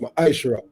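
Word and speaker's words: מעשר: Means 10 in the Hebrew and is pronounced ma'ashra.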